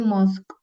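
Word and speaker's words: mosque: C and then have two m m itu bacanya mosk m ya and then Pakai S ya belakangnya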